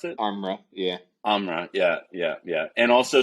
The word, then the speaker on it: Armra: Amra, is that how you pronounce it? Armra, yeah.